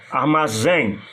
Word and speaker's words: armazém: Por exemplo, armazém. Você, para exemplificar bem, é sempre bom você separar as sílabas. Armazém, a sílaba forte é a última.